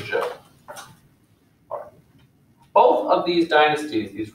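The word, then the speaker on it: Zhou: about is known as the show which is confusing it starts with the z is spelled z-h-o-u the show both of these dynasties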